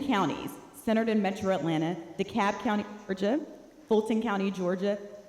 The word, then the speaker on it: DeKalb: Well, if you heard it on the news, they don't often pronounce it right. They say DeKalb. DeKalb County had not come in, and I had people texting me from everywhere.